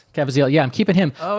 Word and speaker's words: Caviezel: Kabazinski? Cavaziel. Yeah, I'm keeping him. Oh, But okay. Caviezel.